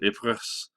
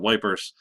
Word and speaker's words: Ypres: But this battle is called the Battle of Ypres, and I know it looks like it says Ypres. That's pronounced Ypres. British people didn't know how to pronounce it, so they called it Wipers.